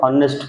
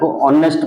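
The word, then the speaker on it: honest: पढ़ती हनेस्ट एच ओ एन एस टी लिखा हनेस्ट पढ़ती नहीं ऑनेस्ट पढ़ा जाए ऑनेस्ट ऑनेस्ट पहला माने कौन करती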